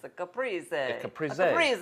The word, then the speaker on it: Caprese: The trouble with this dish is pronouncing it properly. It's a Caprese. It's a Caprese.